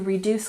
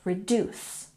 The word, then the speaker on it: reduce: down its operations to reduce costs and let's look at pronunciation by putting emphasis on the second syllable reduce reduce good and 45